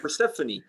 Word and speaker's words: Persefone: the band and also i learned the right pronunciation which is persephone yeah it's actually more normal because that's a more portuguese pronunciation than the english one which would be persephone so yeah we yeah